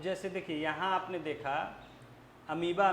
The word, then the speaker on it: amoeba: अब हम लोग को शुरू में बचपन में इसको दिमाग में बिठाने में समय लगता था, इसका प्रोनाउंसिएशन अमीबा होता है, स्पेलिंग होता है वो, इसे बचपन में सब चीज़ें तुरंत नहीं बैठती हैं दिमाग में।